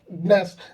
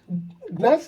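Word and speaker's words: gnash: next शब्द हमारा है नेस नेस या फिर जी साइलेंट आप नेक्स्ट भी बोल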